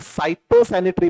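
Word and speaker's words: phytosanitary: में दो पार्ट है सैनिटरी एंड साइटो सैनिटरी major प्रोशन कैसे इसका यह फाइटो नहीं है साइलेंट है य ओके तो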